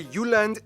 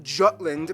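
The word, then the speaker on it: Jylland: full disclaimer ignore wikipedia i'm gonna pronounce the location names in their proper danish context so here we go denmark is made of the uland not jutland peninsula that connects to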